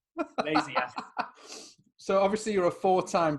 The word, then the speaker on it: Lesiak: It's more like Lesiak.